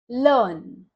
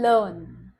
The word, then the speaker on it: learn: sound है इसलिए हम यहां पर भी आर का उच्चारण नहीं करेंगे तो यह शब्द है लर्न हार्ट हार्ट में भी